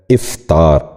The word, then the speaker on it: افطار: آخری لفظ ہے افطار۔ یہ غلط تلفظ ہے، درست تلفظ ہے افطار۔ دوبارہ سنیے، افطار۔ بچوں آپ بھی سنیے،